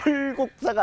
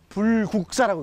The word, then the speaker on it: 불국사: 꼭 쌀 하 만 이게 흘 국사가 아니라 불국사 라고 읽어요 너무 외에 반테러 일